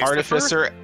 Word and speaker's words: artificer: it said both ways and it's art it's artificer i i will fight anyone who pronounced that i second i seconded that it's